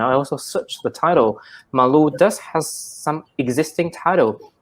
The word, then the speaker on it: Malu: I even said it Mula. It's actually Malu.